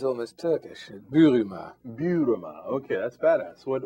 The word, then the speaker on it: Buruma: welcome all right now give us a real pronunciation of your last name it sounds almost Turkish bua bua okay that's badass what what uh what